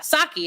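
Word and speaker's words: Psaki: and he was like do you know how to pronounce the White House Press secretary's name and I was like yeah saki it's gen Saki and he was like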